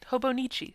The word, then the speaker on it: Hobonichi: I still feel like I'm constantly mispronouncing it, but that's fine. No, you're saying it right. Hobonichi.